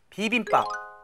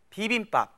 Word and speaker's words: 비빔밥: 비빔밥. 비빔밥. In words like 비빔밥, the piup sound at the end is what we call a consonant ending.